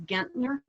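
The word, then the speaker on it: Guenthner: their last name is gentner so it's spelled the german way g-u-e-n-t-h-n-e-r there were four brothers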